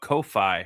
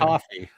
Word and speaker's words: Ko-fi: Is it Throw a Kofi message or in there. coffee? No, it's Ko-fi. Ko-fi.